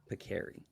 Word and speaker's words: Pekari: And I pronounced it Pekari. And he corrected me. He's like, it's Pekari.